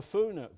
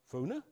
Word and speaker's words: Foulness: actually brought up, the Foona Valley. You say, Foona? Well, actually, that's how we pronounced it. Foulness is what the Ordnance Survey call it.